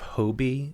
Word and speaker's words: Hobie: The character of Hobie, is that how you would say his name, Hobie? I would say Hobby, but hey, whatever.